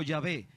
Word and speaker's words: Yahvé: De ahí viene el nombre, o por eso yo pronuncio Yahvé, que es el original hebreo de Dios, el Padre.